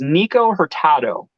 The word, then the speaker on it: Nikko Hurtado: His name's Nico Hurtado. So his name is spelled Nikko Hurtado.